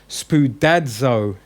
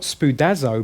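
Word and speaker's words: σπουδάζω: Notice it's spoudadzo. There's a D with the Z for the zeta, yeah? So it's not spoudazo, but it's spoudadzo.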